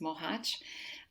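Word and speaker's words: Mohács: this little town where i was born it's pronounced mohache um it's in the southern part of hungary and um and and and then he went and returned to muhaj after his uh forced labor which is what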